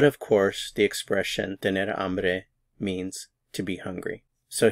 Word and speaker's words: hambre: to be hungry is amre amre notice the H is silent amre amre you'll need